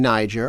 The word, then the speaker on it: Niger: 20 years old and sure enough the pronunciation there was Niger now the people who live in Niger are apparently Ngerians, okay, not Nigerians. So maybe that's where this nger has come from.